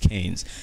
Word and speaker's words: Cairns: Somebody told me it's pronounced Cairns.